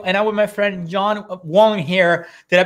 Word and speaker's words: John Vuong: pixel feet radio and i'm with my friend john wong here did i pronounce that right i think i did it's john vong close close enough um and john he uh